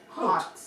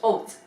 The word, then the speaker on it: haute: Haute. Hot. Yeah. Haute. Oat. Hope. You don't even pronounce the H. It's oat. Oh, I Oat. I always used to say hot.